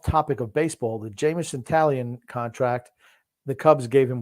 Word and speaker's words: Taillon: It's Taillon is how it's pronounced.